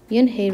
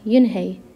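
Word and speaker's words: Yoon-hee: their eyes opened wide yin hey looked at him and a mr kim then turned to joey she nodded slowly yes it's pronounced yoon hey and that means grace mr kim added yoon hey joey said slowly this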